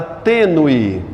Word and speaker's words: tênue: digo Z por exemplo a palavra Tênue tênue e coloca o circunflexo ele indica que o quê que a vogal é fechada eu não digo tênue